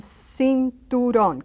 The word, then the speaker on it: cinturón: Now, when it's next to a vowel such as I, like here, or E, then it becomes an S sound or TH sound like in Spain.